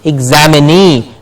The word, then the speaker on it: examinee: Means the person who is examining something is the examinee. Like we said, employ and employee follows the same thing. Employ, employee. Examine, examinee. So you see the change of the stress.